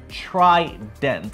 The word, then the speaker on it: trident: So the word is actually trident. So tri, as in three, like triangle. All right? So that's the way it's pronounced. Not usually what you say is triangle. Nobody says that.